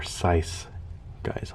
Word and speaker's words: Seuss Geisel: Seuss Theodor Seuss Geisel actually believe it or not it's pronounced Theodor sice guys all famous cartoonist Chuck Jones there's a a